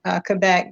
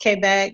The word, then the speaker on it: Quebec: We say Quebec, but it's pronounced Quebec. That's the French pronunciation of it.